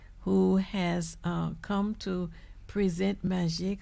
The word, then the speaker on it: Magique: It's a French word for magic. And the spelling is trickery, so therefore people have anxiety pronouncing it. But it's very simple. Magique 4. Instead of saying magic, you say magique.